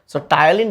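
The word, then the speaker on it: ptyalin: টায়ালিন বানানটা তোমরা একটু খেয়াল করো। টায়ালিন বানানটা কিন্তু পি দিয়ে শুরু। পি টি ওয়াই এল আই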